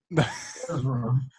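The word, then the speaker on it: Erza: Ezra.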